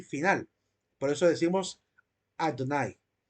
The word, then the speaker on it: Adonai: una a corta Adonai si se lee muy rápido puede incluso sonar como la letra e casi como edonai edonai o pero sería más bien Adonai la forma correcta de